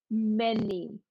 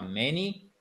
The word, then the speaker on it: many: Bien l'accent tonique sur la première voyelle, OK? Et pas sur la deuxième partie, sur la seconde partie du mot. C'est pas many, non, c'est many. Vous tapez sur la table.